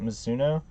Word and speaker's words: Mizuno: huge stitching, and it said, I believe you pronounce it Mizuno.